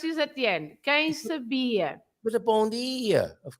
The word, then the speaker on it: quem sabia: Do you remember, Carlitos, that the words ending in IA, the stress must be at the end, like leiria, remember? Leiria. And quem sabia. Oh. Everything that finishes in IA, like you say, padaria, pastelaria.